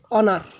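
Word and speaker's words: honour: তারপরে অনার, এইচ উচ্চারিত হয় নাই।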